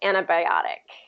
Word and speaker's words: antibiotic: I was saying like a lot of native speakers are going to drop the T in the eye and they're just going to say antibiotic antibiotic yeah so I guess it's more just the tea that that gets dropped and that that becomes